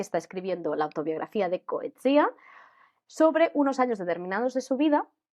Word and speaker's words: Coetzee: Coetzee, yo toda la vida lo he llamado Coetzee y ahora desde el club de lectura aprendí que se pronuncia correctamente Coetzee.